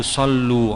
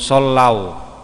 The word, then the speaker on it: sallau: Banyak di masyarakat itu bacanya itu sallu alaika, wal ghamama qad adallat wal mala sallu alaika. Padahal yang betul bukan sallu, sallau. Tulisannya sama.